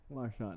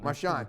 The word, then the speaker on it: Marchant: to juice officially machand is that how you say it Marshawn Marshawn okay the CNA the CH is kind of soft it's not hot I